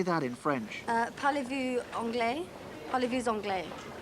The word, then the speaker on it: parlez-vous anglais: Parlez-vous anglais? Parlez-vous anglais? Do you run the S onto the A, don't you?